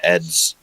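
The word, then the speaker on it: adze: So, um, someone just said for the record that Adz is just one syllable. He's the E is silent, so that'd be ads.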